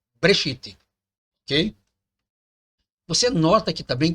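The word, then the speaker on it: בְּרֵאשִׁית: Ele não está dizendo que é Bereshit, ele fala que é Breshit, ok?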